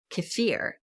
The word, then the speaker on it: kefir: You'll also hear it pronounced kefir, but I've always referred to it as kefir.